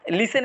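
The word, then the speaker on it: listen: যেমন বোম বোমের ভিতর যে বিটা আছে এটা উচ্চারণ হয় না লিসেন ভিতর টি আছে টি এর উচ্চারণ হয় না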